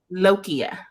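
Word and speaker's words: lochia: it low Chia lokia how do you say it lokia oh like marble okay like Loki but uh okay lokia um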